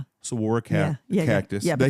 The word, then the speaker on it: saguaro: I mean, you've got the saguaro cactus in the south, which is, until you've seen them in person, you just cannot believe. How do you say it? Saguaro? Saguaro cactus.